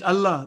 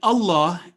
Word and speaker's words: Allah: Always remember that lam in Allah is lam jalala. There is a rule associated with it. It is always pronounced with thick or heavy sound if preceded with a letter carrying fatha or dhamma.